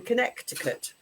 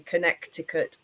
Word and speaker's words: Connecticut: Ideas in New Haven, Connecticut, as I like to call it. I don't know why the C in Connecticut is silent.